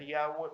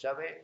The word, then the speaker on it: Yahvé: Nuestro Elohim se llama Yahvé, se suele pronunciar Yahweh, pero es Yahvé o Yod-Hei Bab-Hei, que